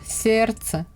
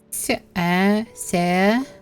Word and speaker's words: сердце: Then the combination of R, D, and C. No D at all. And the example is сердце.